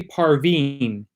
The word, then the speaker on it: Parveen: and it's called i i learned today that's perfectly parveen is how you say it and it's a kid's book it's it's uh geared towards girls who are around 12 to 16.